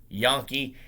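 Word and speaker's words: Janke: their leading receiver jackson it's spelt j-a-n-k-e but it's pronounced yankee he had three catches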